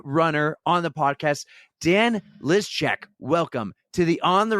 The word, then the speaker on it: Lyszczak: and we're wicked excited to have the bearded runner on the podcast, Dan Lizchek. Welcome to the On the Runs podcast finally. Woo! Thank you for pronouncing my last name correctly.